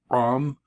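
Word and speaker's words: עם: this om is people if you can say the guttural with more of a guttural rom that may help you remember how to spell it but most people just say um uh halaq very common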